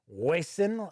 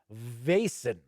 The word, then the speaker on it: Vaesen: be like wasan vasin but i did see that it's almost as if it's like uh vaz like you know like a vase as we would say in america but i believe the correct correct i should say pronunciation is vasen so we're gonna find